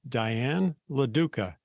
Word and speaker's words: Diane LaDuca: over the world today I'll be visiting with Diane laduca did I pronounce that correctly you did oh okay good